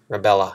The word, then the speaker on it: Rubella: So I highlighted it, the last part in red, and we're going to associate that with Nutella. So Nutella, Rubella, it rhymes, both of them end in Ella.